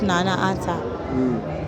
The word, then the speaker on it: Nana: as long as you say it correctly the pronunciation it's nana okay yeah i know good to finally meet